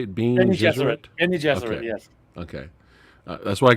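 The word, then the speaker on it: Bene Gesserit: And Paul's sitting there with his mother Jessica, and they're doing the Bean Gesserit. The boxing? Is that how you say it? Is that how you say it? Bean Gesserit? Benny Gesserit, yes.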